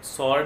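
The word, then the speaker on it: sword: और आप ले लीजिए जैसे जैसे आंसर वर्ड है आपका, और सॉर्ड है, ये भी इनके एग्जाम्पल है। इसमें भी W जो है वो साइलेंट रहता है।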